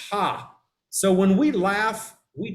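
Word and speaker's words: ห้า: about thailand is that the number five is pronounced ha so when we laugh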